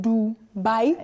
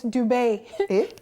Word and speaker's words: Dubai: Mazi FM tweeted, so I heard Dubai is actually not pronounced do. The way I just pronounced it, Dubai, like D-O-O and buy. Rather, it is Dubai.